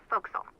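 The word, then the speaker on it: forecastle: ship but it's pronounced fil why is that try pronouncing it like an English sailor with no formal education SP Castle fol though over time it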